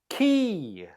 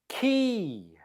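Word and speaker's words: quay: you say this word key key a a key is a place where boats load or unload it's next to the water the pronunciation is the same as a key in the door how did you do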